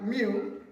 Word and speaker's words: mu: Mu is equals to F all RN where mu is the coefficient of friction. Mu is a Greek letter pronounced mu.